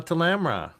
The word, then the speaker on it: Tamra: gods would be like rhyme rhymes with grandma. Grandma Tamra. That's how you It's pronounced tamra.